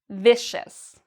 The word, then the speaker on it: vicious: It's a C. So what does that mean? That means we need to pronounce C-I-O-U-S like shus. Vicious, vicious.